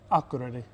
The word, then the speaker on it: Akureyri: We're in Akureyri, is that how you say it? Akureyri.